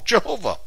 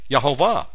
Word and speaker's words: Yehovah: And the King James had it right all along, Jehovah. Except, you know, there's no J in Hebrew, so it's actually Y. Yehovah.